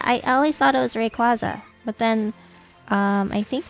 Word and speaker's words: Rayquaza: legendary is um ray i know it's pronounced rayquaza but i say rayquaza pronounce it wrong apparently i think that